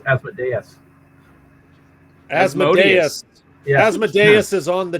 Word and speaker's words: Asmodeus: go talk to him i believe the correct pronunciation is asmodeus asmodeus asmodeus is on